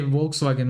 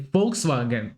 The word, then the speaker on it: Volkswagen: Listen, we don't say Volkswagen. We say Volkswagen with the letter F.